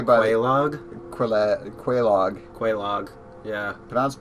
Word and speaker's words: Quelaag: now we've run the second Bell of awakening quelaag god I just love that dragon head there well it's pronounced way by a log for that Quelaag Quelaag yeah but I was like that in-game